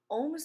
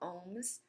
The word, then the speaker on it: ohm: something called Ohm's law Ohm's law is the measure of resistance in oldest which rhymes with homes and it's actually it